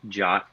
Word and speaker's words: JWT: about jwbt or uh typically you'll hear it pronounced jot in the community um